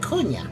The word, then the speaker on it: Kuna: Oh, Kuna. That's how you're supposed to say her name.